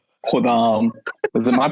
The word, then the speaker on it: Khuddam: It's Khudam. Khodam. Is it my pronunciation?